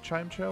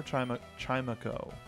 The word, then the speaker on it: Chimecho: Do you pronounce it Chimecho or Chimeco?